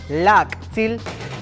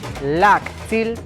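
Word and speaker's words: láak'tsil: Familia en maya se dice lactil, lactil, lactil, lactil. Ahora mencionaremos el título del tema, familiares. ¿Tú sabes cómo se dice? Se dice así, lactilop, lactilop, lactilop, lactilop, lactilop.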